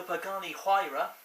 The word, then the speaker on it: Pagani Huayra: i previously blogged about the Pagani Huayra that is how you pronounce it by the way I found out since